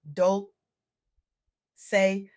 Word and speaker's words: Dolce: This is Soft Girl Era, hosted by Dolce, pronounced Dol say like sweet softness whispered in French.